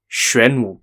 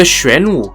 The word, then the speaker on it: Xuanwu: because today's topic will be about the famous shren gate incident the shren gate incident is set in the year 626